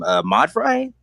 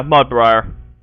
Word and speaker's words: Mudbriar: Modfry? I mean, not Modfry, Mudfry. How you say his name? Mudfry. Mudburn. Technically, it's Mudbright. Yeah, Mudbriar.